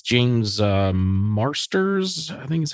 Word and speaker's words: Marsters: And he is, I believe it's James Marsters. I think is how you say his last name. Yeah, James Marsters.